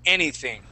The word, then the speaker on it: anything: here on this word anything try that anything okay any anything okay so we're going to stick our tongue between our teeth and we say thing anything try that anything anything